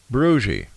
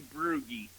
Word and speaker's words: Brugge: I will say Brugge. Very, very close. Very close. It's actually Brugge. Ah. German.